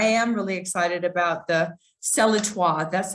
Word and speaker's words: Celletoi: But yeah, I am really excited about the Celletoi. That's how you pronounce it.